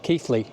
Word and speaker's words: Keighley: that always ask me it's pronounced keithly not key all that smoke